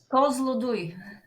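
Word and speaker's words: Kozloduy: How do you pronounce this? Kozlodui. Kozlodui.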